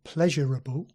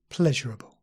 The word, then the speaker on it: pleasurable: more comparable pleasurable and sometimes people say these two words with four syllables comparable and pleasurable but the more standard and common form is just three syllables comparable pleasurable variable and this is